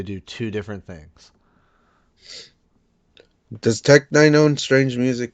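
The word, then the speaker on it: Tech N9ne: pronounced Tech Nine, is Heck an no.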